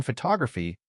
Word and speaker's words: photography: The O in photograph was strong. But in photography, that first O turned into a schwah. It became fu.